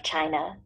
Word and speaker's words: Qin: the first emperor of China and the founder of the Qin Dynasty the word China actually derives from his name it spelled Quin but it's pronounced chin like China chin he rolled from